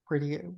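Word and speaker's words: Peridea: So let's go back to Peridian, wherever Ahsoka and everyone is. Yeah, I in my mind it rhymes with perdition.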